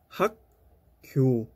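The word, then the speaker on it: 학교: والجملة الثالثة، في هذه الكلمة من الواجب أن تنتبه إلى النطق أيضا نكتب حكيو لكن ننطق حكيو حكيو المدرسة. من جر باتشيم كيوك من جر باتشيم كيوك ننطق حكيو حكيو نطق حكيو ليس حكيو حكيو.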